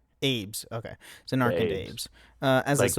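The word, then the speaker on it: Zanarkand Abes: Zen AES.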